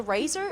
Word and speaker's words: RACER: We say RACER, it's an acronym that stands for Rice Advanced Engineering Systems and Research, so you can say it however you want.